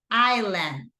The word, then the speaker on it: island: about about once again remember the pronunciation of Isla is island island the pronunciation of this